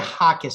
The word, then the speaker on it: Jacquez: we go into it uh Stephanie uh I pronounce it Hawkins am I pronouncing it correctly you are you